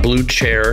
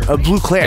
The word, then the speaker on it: Bleu Clair: Bleu Clair. It's Bleu Clair. Yes, for a long time. No, you said it right. But just to set the record straight, it's not Bleu Chair. It's Bleu Clair.